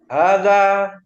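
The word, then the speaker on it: هذا: terlalu terburu-buru kita tenang pengucapan hadza babun seperti kita bayangan kita mengisyaratkan terhadap suatu benda baik ulangi H baitun hadza masjidunnya agak panjang hadza hza Danya panjang Hun ha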